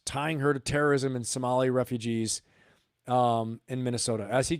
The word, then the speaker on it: Somali: her to terrorism and Somali refugees in Minnesota. As he calls them, Somalian. I think it's Somalis. It's your Somali, and they are Somalis is the plural. Okay. So Somalian is not right.